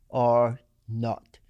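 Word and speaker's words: R0: not it is our zero but it is pronounced or not it's a messy metric that is shorthand for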